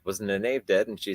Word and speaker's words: Nynaeve: Or something Nynaeve should have done.